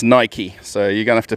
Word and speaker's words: Nike: being told i've got to say nike not nike so it's pronounced nike so you're gonna have to prove me wrong